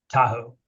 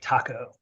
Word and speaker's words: Tahoe: to uh South Lake Tahoe which I always except for right now mispronounce as South Lake taco no matter how hard I try Tahoe always comes out as Taco um and my present